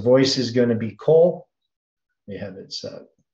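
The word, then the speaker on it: קול: So voice is going to be kol. We have it set. Kof and Lamed, it's pronounced Kol.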